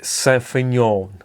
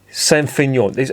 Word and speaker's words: Saint-Feuillien: How many letters are there? There's F-E-U-I-L-L-I-E-N. And all that is Saint-Feuillien. It's like they've looked at the word and they've started pronouncing it and gone, oh, do you know what, for fuck's sake, just call it Saint-Feuillien.